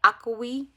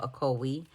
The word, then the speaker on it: Ocoee: I got to name this little stuffed animal because I had so much trouble pronouncing the actual river. I was like, Ocoee. And Jessica said, well, I can help you remember, Shanika. She said, use the jingle for Coca-Cola.